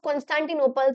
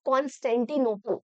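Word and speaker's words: Constantinople: ये बच्चे इसका नाम प्रोनाउंस नहीं कर पाते हैं। कई बार ट्रीटी ऑफ़ कॉन्सेंटिनोप।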